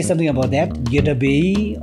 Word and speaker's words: Goedra Bey Yi: Gedabei or Gedamabe? It's Gedabei. Hey, okay. Yeah, so please get that right.